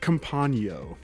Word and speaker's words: Campagno: Campagno. Thank you. Was that so hard? It's like lasagna.